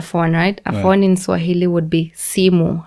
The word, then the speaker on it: simu: A phone in Swahili would be simu. How you write simu is S-I-M-U. And that's a 2-syllable word, simu. Right. And as you just read it as you write it.